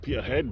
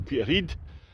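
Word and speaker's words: Peterhead: Peter Heed Dolf Club other people might pronounce it Peter head but it's actually Peter Heed absolutely fantastic course it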